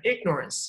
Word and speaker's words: ignorance: 这个单词来读一下，它重音在前面，ignorance.